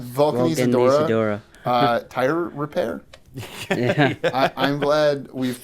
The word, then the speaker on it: Vulcanizadora: Vulcanizadora. Vulcanizadora.